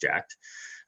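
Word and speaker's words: Jack3d: For the exercise, he had taken the recommended dose of Jacked, pronounced Jacked, supplements sold by, among others, GNC, the retail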